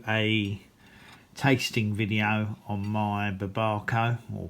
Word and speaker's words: Babaco: So, I decided that I would do a tasting video on my Barbco or Babco. Um, I'm reliably informed by George that is pronounced BCO.